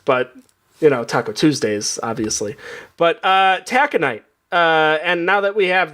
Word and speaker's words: taconite: My word this week is taconite. Oh. Taconite. Anybody want to guess the spelling on this? Tacinite? No. It is spelled Taconite. Taco night. Oh, taco night.